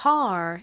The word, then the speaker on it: car: car 이렇게 발음이 되죠 한국식으로는이 단어 어떻게 쓸까요 R이 리을 받침 빼고 보통 카 이렇게 표기하자 카 하지만 미국식 발음으로는이의 소리를 살려서 저 car 이렇게 발음합니다 따라해 보세요 car 좋습니다이